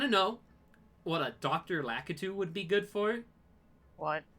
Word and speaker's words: Lakitu: Lakitu. Lakitu or Lakitu, however you want to pronounce it. I think most people do Lakitu, but I do Lakitu because I'm fucking weird.